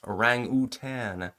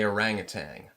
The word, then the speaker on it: orangutan: Now, by the way, it's pronounced orangutan, not G at the end. I'm going to say orangutang.